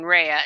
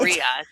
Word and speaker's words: Rhea: I was saying Rehea instead of Ria.